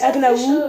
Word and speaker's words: Agnaou: nom de famille, mais ma chaîne YouTube, ça s'écrit comme ça. espace Agnaou. A-G-N-A-O-U.